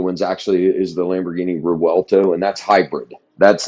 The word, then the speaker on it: Revuelto: the brand new ones actually is the Lamborghini Revuelto, and that's hybrid.